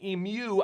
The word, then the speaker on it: emu: emu i know or american you say it wrong emu i get it i get i like to say imu and ostrich oil to